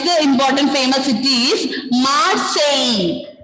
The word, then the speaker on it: Marseille: Then next the important famous city is Marseille. Marseille. Here you can see double L is there, but this L we are not pronouncing there. Marseille.